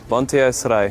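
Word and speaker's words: Banteay Srei: Bonte Esrai.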